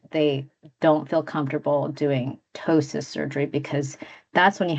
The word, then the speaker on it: ptosis: I have to say tosis repair so I can so tosis spelled p t o s i uh some people will say ptosis but it's just ptosis and it is means